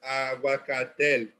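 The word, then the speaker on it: ahuacatl: things like, you know, an aguacate. You know, and that's current day Spanish pronunciation. But the original pronunciation, you know, was aguacatel.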